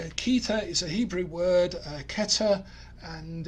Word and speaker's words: Kether: general principles and ke is a Hebrew word Keta and it's spelled cfes and we put the vowels in